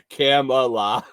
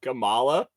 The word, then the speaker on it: Kamala: camel TOA Hunter says it's not Camala it's Kamala H ping says who knows